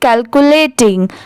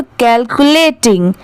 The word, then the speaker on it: calculating: तो देखिए CAL क्या होता है? कल। ठीक है, CU क्या होता है? कू। LA क्या होता है? ले, और TING टिंग। अब जब इन चारों को साथ में मिला देंगे तो कैलकुलेटिंग।